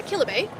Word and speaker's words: Kilibay: Um the next booth we're going to be looking at is called Kilibbe uh Kilibbe and that's how you pronounce it and they are a huge bubble tea supplier in Taiwan.